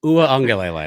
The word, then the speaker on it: Uiagalelei: Uiagalelei. That's how you pronounce it.